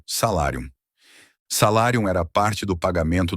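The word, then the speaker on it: salarium: Salário é uma palavra que vem do latim salárium e se pronuncia como se escreve com u m no final salárium.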